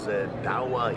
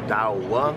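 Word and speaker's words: Douwe: My name is Dawah. You pronounce it as Dawah, D-O-W-A-H. You spell it as D-O-U-W-E, but to make it easier, pronunciation, Dawah.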